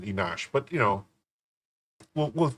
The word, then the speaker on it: Enoch: It's not Enoch. They pronounce it Enosh.